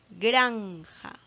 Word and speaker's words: granja: Granja, granja, su acento es prosódico y la sílaba tónica está en gran, en la penúltima sílaba.